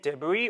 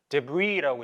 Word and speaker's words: debris: 깨끗하게 뭐를 다 없애버리는 거니까 and any debris or yard waste. debris라고 이제 뒤에 s는 발음이 안 돼요. debris라고 해서 쓰레기입니다.